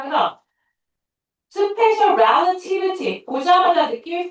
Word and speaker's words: relativity: 자, 이거 하나 더 얘기하면 이 단어로 여러분이 relay 이렇게 읽는데 아니에요. relativity. relativity라고 읽어. 자, 그다음.